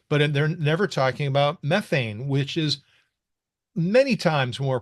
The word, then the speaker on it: methane: I have to use the proper British pronunciation, but they're never talking about methane, which is many times more potent than carbon dioxide.